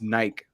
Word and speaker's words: Nike: because in Latin America and especially in Spanish, it's just Nike. That's it. It's not Yeah. two syllables.